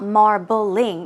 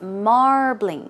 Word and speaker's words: marbling: meat right so marbling keep in mind it's two syllables it's not marbling it's marbling marbling once again marbling